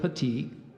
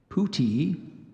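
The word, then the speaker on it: puttee: you the pronunciation of petite there's also Puti and Petty excuse me putty let me do that again so we have putty the first one I gave you there's Pootie and there's putty um inspeller 33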